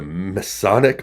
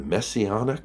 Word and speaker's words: messianic: Let's read about the Messianic manipulator. That's a great name for Sarah, too. The messianic I'm probably pronouncing it's like messiah.